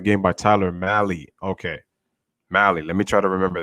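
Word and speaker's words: Mahle: know when he was good also it's pronounced mali okay mali okay tyler mally okay also now it looks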